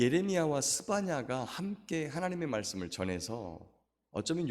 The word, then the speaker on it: 스바냐: 스바냐, 원래 스바냐회라고 하는 말인데 이스라엘 백성들은 야훼라고 하는 이름을 입에 담지 않기 때문에 스바냐까지만 발음을 합니다.